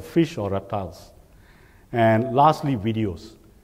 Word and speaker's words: Viddyoze: And lastly, videos. If you look closely or you pronounce it fast enough, you will tend to realize it's actually it's the plural of video.